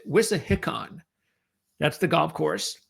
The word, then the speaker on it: Wissahickon: But what we do know, by the way, it's the Philadelphia Cricket Club and it's Whis Hickon. That's how they pronounce it. Whisickon.